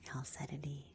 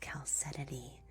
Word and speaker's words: chalcedony: This stone was chalcedony. It's CH instead of just a C.